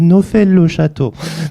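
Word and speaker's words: Neauphle-le-Château: Donc après les Iraniens le prononcent à leur manière, ils disent Nfel le château.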